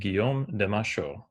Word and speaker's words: Guillaume de Machaut: have been pronounced as as native speakers would pronounce them. So these are French composers. So you would pronounce their names Phipe Devitri and Guom de Masho.